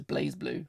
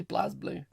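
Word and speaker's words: BlazBlue: blue however it's pronounced obviously it's blaze blue but i hear people say blast blue uh continuing shift extend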